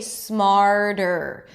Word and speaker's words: smarter: Now, if it's hard for you to do the flap T, that really light tap after an R, it's okay if it sounds like a D. Okay, smarter.